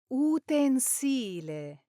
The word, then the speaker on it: utensile: you say utensile, utensile, Now the correct pronunciation here is utensile. Now when utensile is used as a noun, like a thing you use in the kitchen, Italians say utensile with the stress on the second to last syllable, just like the original Latin word utensilia. But when it works as an adjective, meaning serving a practical use, like a tool used in a factory, it's pronounced utensile, following the Latin utensilum.